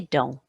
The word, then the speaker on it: dents: A tooth, une dent, some teeth, des dents. Put an S on, but I'm not pronouncing it.